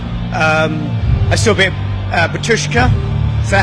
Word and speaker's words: Batushka: I saw a bit of Batushka.